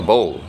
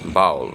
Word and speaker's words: bowl: a uh under a bowl now this usually causes some problems ination I've heard people say or pronounce it as bowel but if you check the dictionary it's Bowl so people don't hide a